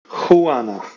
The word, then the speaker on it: Juana: Juana.